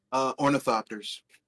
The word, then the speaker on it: ornithopter: Simulator where you could fly how do you pronounce the name of the planes that they fly in Dune? Ornithopters.